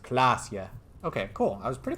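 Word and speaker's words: Klaasje: Klasia is pronounced Klasia.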